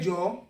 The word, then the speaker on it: jọ̀ọ́: You cannot just write J-O and jọ̀ọ́. Even though we say it like it's fast, jọ̀ọ́, but it is jọ̀ọ́ because every gbogbo ọ̀rọ̀ Yoruba must go with the formula.